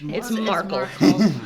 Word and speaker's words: Markl: I put his name as Michael, his name is not Michael. It's Markl.